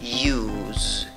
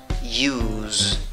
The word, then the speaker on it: use: Se escribe con tres letras, pronuncias con tres sonidos, y mira, aunque la escritura va con una S, la pronunciación va con Z, la E final no va.